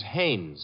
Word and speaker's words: Haynes: war fishing so I what did you say his name is Haynes h-a-i-n-e-s ah oh hey yeah you know him well he's your fellow named Heinz used to fish no no not Heinz Haynes couldn't be Huntingburg now